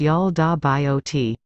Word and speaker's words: Yaldabaoth: He is also given the bizarre name, Yaldabaoth, pronounced Yal-da-bi-ot.